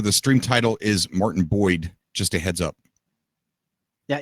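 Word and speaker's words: Boid: I mean, it literally took Cobra 3 tries to get I thought it was Martin Biod. I thought it was Martin Biod. Biod. B-O-I-D. Yeah, Biod. Oh, it's Boyd.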